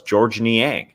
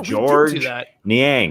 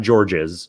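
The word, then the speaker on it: Georges Niang: of the names was george niang uh we announced the players before the game i remember saying oh yeah george niang you don't pronounce the s it's not george's well we were like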